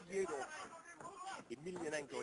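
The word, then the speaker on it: Fedor Emelianenko: Yeah, he really wants to fight Fyodour Emelianenko. Yeah, that's the way you pronounce it.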